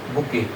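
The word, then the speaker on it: bouquet: बुके बी ओ यू यू यू ई बोलते क्या है? बुके स्पेलिंग ये होती है।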